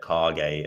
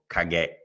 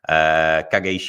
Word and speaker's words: Kage: And that is actually how that's pronounced, by the way. I know it tends to be said Kage over here, but Kage is how it was actually pronounced in Japan.